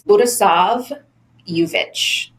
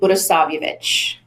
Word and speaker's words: Budisavljevic: But phonetically, it's Budisavljevic. So Budisavljevic.